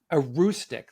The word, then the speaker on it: Aroostook: Now, if I script this pronunciation, tell me, you grew up in Aroostook? A Is rustic. a Roostic, thank A you, rustic.